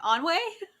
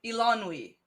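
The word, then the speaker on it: Eilonwy: Onway? No, close though with the way you finished it. Elanwe. Elanwe. Okay, fucking elf.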